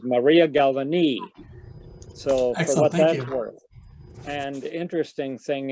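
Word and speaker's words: María Galvany: name of maria galvani that's how she pronounces it i have several uh center start pathes of her where she does her own announcement and her the way she pronounces her name is maria galvani so and the interesting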